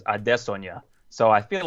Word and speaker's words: Adesanya: Folks by the way that's how like Israel and his brother both say it is Adesa so I feel like